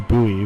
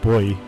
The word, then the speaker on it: buoy: Uh I usually hear it pronounced buoy, but uh you know, boy, uh is I guess how the narrator said it.